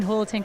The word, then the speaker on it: Julaton: remind the announcers that my last name is pronounced with an h instead of a j so hurricane holton kind of had a